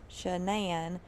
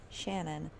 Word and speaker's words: Shanann: problems he said that she pronounced her name shanann but her mom pronounces her name shannon and jeremy said that